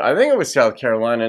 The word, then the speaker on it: Carolina: I happen to know a Carolina. That's how she pronounces it.